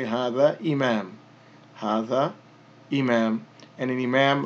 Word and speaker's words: imam: And as we mentioned previously, if 2 dhammas comes at the end of a word, then we generally won't pronounce it if it's the end of a word or a phrase. So we would just say this is imam.